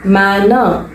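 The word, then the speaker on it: manor: ஓகேவா, எப்படி ப்ரொனவுன்ஸ் பண்ணணும்? கர்சன். ஆர் அப்படிங்கிறது சைலண்டா ப்ரொனவுன்ஸ் பண்ணணும். கர்சன். மேனர், மேனர் அப்படின்னா ஒரு பண்ணை நிலம், பண்ணைக்கு உரிமைப்பட்ட ஒரு தனி நிலம், அதுதான் அதோட தமிழ் அர்த்தம். எப்படி ப்ரொனவுன்ஸ் பண்ணணும்? மேனர்.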